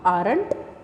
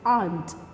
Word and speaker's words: aren't: remember the pronunciation students r will be silent it it's not aren't it's aren't okay not and not aunt okay it's you you get the sound of r but it's still silent okay so you get